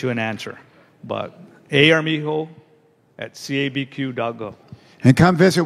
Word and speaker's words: Armijo: write it down a armijo so it's two a's a a r m i j o the j spell pronounced like an h a r amigo at